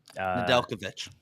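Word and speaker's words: Nedeljkovic: yeah first period what is his name Ned n delovic n delovic thank you shout out Josh gets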